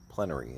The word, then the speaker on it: plenary: Like pleenery. Plenery is how I've heard two lawyers now pronounce it.